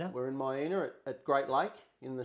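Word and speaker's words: Miena: And uh we are just now in how how you pronounce correctly. Um May We're in Maya at Great Lake in the central highlands of Tasmania.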